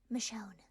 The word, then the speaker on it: Michonne: it pronunciation for her as someone who has watched the walking dead for many years um the pronunciation is michonne um and then willow